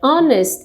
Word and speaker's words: honest: Então, esse H é mudo, eu não pronuncio, é como se estivesse emendando aqui com a vogal, por isso que é a N.